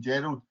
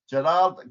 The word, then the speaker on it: Gerard: I have to pronounce this correct because Gerard always pulls up on Twitter for saying Gerald. Gerard King of Veno.